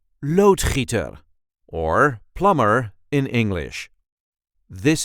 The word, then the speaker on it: loodgieter: see how to pronounce loader or plumber in English. This is the way we say loader loader. There is a light emphasis on the first syllable. Load heater.